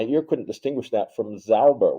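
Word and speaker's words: sauber: My ear couldn't distinguish that from Zauber with an S with no T at the front in the sound phonetically.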